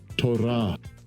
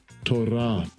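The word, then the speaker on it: תּוֹרָה: Strong's H 8451 Torah Torah I don't roll my Rs, okay?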